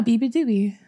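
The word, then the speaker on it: beabadoobee: And that's how you pronounce it? Yeah, Biba Doobie.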